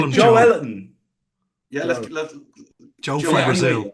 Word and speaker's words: Joelinton: Joe Alfie, can you go and find the correct pronunciation for Joe Linton, please? It's not Joe Linton, it's Joe Ellerton.